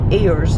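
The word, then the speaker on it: aires: about areas and places that they call airs. It's spelled A-I-R-E-S.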